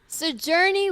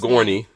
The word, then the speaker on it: Sigourney: Sojourney Weaver. I'm probably mispronouncing her first name. Sigourney. Sigourney Weaver.